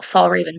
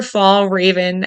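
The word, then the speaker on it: Fjällräven: And I didn't know how well Fall Raven sold.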